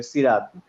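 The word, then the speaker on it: صراط: আসলে এই সা কিন্তু সিন না, ওখানে আছে হচ্ছে সদ। হ্যাঁ, তো সদে যখন আপনার সি হবে তখন নর্মাল সিনের সি এর মতো সি বললে হবে না, তখন একটু উচ্চারণটা গোল করে সই, সৈরাত সৈরাত এরকম হবে উচ্চারণ।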